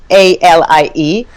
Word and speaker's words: Nathalie: Nathalie is like the French way, so it's a Nathalie, and is like.